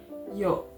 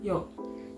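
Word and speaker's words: ㅛ: Kalau misalkan 2 garis vertikal ke atasnya, garis, kemudian ada garis vertikalnya 2 ke atas, itu dibacanya yo, bulat, yo.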